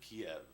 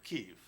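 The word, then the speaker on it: Kyiv: The Great Gate of Kiev which or Kiev now as we know how to say it yeah um that's the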